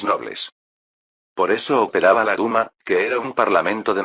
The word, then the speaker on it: Duma: Duma, una pronunciación que de alguna manera recordaba a Dumas, pero en realidad significa parlamento.